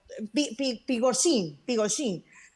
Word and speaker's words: Prigozhin: el grupo Wagner y el señor, ¿cómo se pronunciará? Prigozhin, él, Prigozhin, así es.